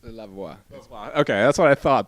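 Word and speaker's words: La Voix: maybe you can give it a try it's love wah okay that's what I thought that was like my French pronunciation is horrible but you're a finalist on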